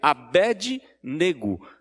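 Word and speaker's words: Abednego: maioria pronuncia de errado a pronúncia correta seria abedi nêgo abedi servo negro do deus negro então é servo de deus negro abedi nêgo é a mesma raísa que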